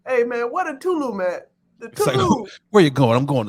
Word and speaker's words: Tulum: vacation from the pod i went to telugu tulum yeah you got to say it like that the first time i saw salute i'm not going to lie i said to love i'm like why is everybody going to tulum